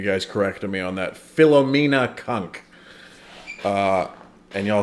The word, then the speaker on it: Philomena: And I'm following up over a month later on Philomena is how you say it. I think you guys corrected me on that. Philomena Cunk.